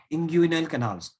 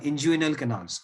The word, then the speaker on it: inguinal: those canals are called as inguinal canals या inguinal canals. जैसे आपको प्रोनाउंस करना है प्रोनाउंस कर सकते हो.